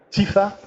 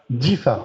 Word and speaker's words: Difa: Tifa? Tifa, je prononce bien? Difa. Ah, Difa. Difa, voilà. Difa.